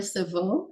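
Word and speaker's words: Cevieux: Barbara Savo. It's Savo is spelled C E V I E U X.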